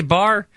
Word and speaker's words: bar: I pronouncing it right is it ba Mitzvah bar you have to say bar how come I've heard